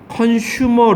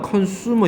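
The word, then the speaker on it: consumer: 근데 우리나라 뉴스 라디오 뉴스 앵커가 이걸 발음하면서 컨슈머 리포트지라고 하는 거예요. 컨슈머라고 발음 안 해. 컨머야. 컨수머 이걸 왜 슈라 그러니? 수야. 수 네가 한번 들어 봐.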